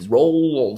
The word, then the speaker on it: Roald: for me is actually I've been saying it wrong my whole life I actually got to the scene of riding this and the whole part about taking role and I was like man how do you say how do you say roll top right and I was just guessing so I looked it up and yeah it's rolled as a silent D so you hear Kurt